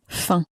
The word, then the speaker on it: faim: For instance, the word for you, which is vous, or the word for hunger, which is faim. The last consonant is not clearly pronounced on either of those words because the consonant is not in for luck.